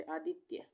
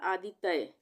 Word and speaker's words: आदित्य: करेंगे यहां पे आदित्य अगर हम पूरा त बना देंगे तो ये क्या बन जाएगा आदि तय आदि तय बन जाएगा पर हम इसको कैसे प्रोनाउंस कर रहे हैं कैसे बोल रहे हैं आदित्य तो आधा ता लिखेंगे